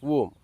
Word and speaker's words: womb: The next mispronounced word in English is womb. It's neither womb nor womb. The last letter B is silent and hence the pronunciation womb.